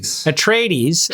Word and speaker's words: Atreides: How do you pronounce it? Atreides.